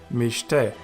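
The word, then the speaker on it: מִשְׁתֶּה: The BeGaDKeFaT letter is preceded by a schwa, and hence it is a Dagesh Lene. So you pronounce it as mishte, and it means feast.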